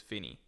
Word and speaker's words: Finny: Finny, so it's pronounced Fin-E, says Finny. Also, it's pronounced Finny.